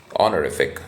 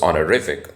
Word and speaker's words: honorific: I used to pronounce it as honorific, which was wrong. So it's honorific. The stress is on the third syllable.